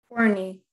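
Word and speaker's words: koruny: Corony. Can I have all the information? Corony is the only pronunciation.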